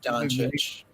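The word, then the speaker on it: Dončić: I had to call my friend and say, oh, "How do you pronounce this guy's last name?" Doncic.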